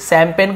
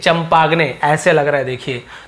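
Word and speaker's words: champagne: हम यहां पे स्टार्ट करते हैं सीच से शैंपेन को हम सी एच से स्टार्ट करते हैं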